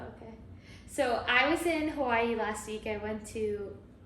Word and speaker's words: Hawaii: And fun fact, they all pronounce Hawaii there Hawaii. Hawaii. Did you know that?